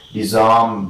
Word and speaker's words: disarm: rule of word stress words of two syllables or d syllabic words take the primary word stress on the second if they begin with the prefix disks so in all this